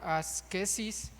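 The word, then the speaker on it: ἄσκησις: Fíjese, en la antigüedad se hablaba del de este término asetismo que en griego se pronuncia medio raro, asquesis, para ellos se referían con ese término para referirse al entrenamiento de los ejercicios atléticos y militares.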